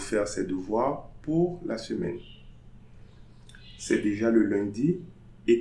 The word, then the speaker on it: semaine: So, jour, So we are not going to say jours, jour de la semaine. Semaine. So I'm pronouncing the N but not the E, because if I was pronouncing the E, I was going to say semaine.